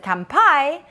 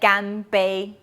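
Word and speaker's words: 乾杯: in taiwan or china you should pronounce it gambei which both means cheers in english so let's repeat it together again gambe is a chinese version kampai is japanese and which means cheers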